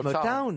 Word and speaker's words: Motown: Comment on doit dire Motown. Oui, oui, Motown. It's Motown, Motown. oui, je dis bien Motown. Oui, oui, oui. Les sanglots longs de Motown. Ouais. Town, you know, you have to pronounce Motown.